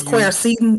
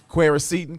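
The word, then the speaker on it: quercetin: d zinc cuset cucitin i don't know how to pronounce that i think it's square seton is it quericetin q-u-e-r-c-e-t-i-n-query-cetin and uh that sounds right and other immune boosting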